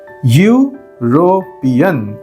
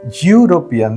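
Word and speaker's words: European: आप अगर सुनते हैं आपको लगता है यह यू से शुरू हो रहा है यूरोपियन यूरोपियन देखिए और यह यू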